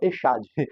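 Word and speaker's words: אחד: Perceba que ele usa a expressão Echad no final, não é Echad, como está escrito, mas transliterado, mas a pronúncia ali é Echad.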